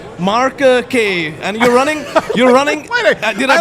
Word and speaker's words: Kaye: Well, I just wanted to make sure I got the pronunciation right. It's Kaye, right?